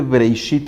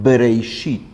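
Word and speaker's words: בראשית: Y la pronunciación de Breishit es justo la pronunciación labial, Breishit.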